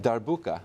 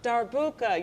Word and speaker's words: darbuka: is it dark how do you say it darbuka darbuka you brought Tudor bukas for us yes I